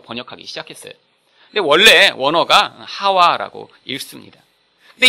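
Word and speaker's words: חוה: 근데 원래 원어가 하와라고 읽습니다.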